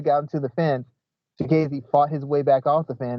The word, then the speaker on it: Chikadze: Yes, like Chikadze.